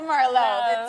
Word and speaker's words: Merlot: merlot she's like tablet it's merlot the tea is silent so i learned a